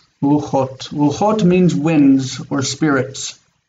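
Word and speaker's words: רוּחוֹת: But the plural does have two syllables and it is? Ruchot.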